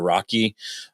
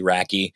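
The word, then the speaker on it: RACI: It's called the I I pronounce it the the Rocky uh model, the R A CI. So, Rocky, Raky, however you want to say it. Could be rasy, I don't know.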